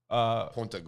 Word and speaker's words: Punta Gorda: Punta Gorda.